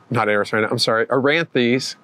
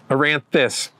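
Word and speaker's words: Eranthis: And this is Aranthes. Aranthus, get my syllables right.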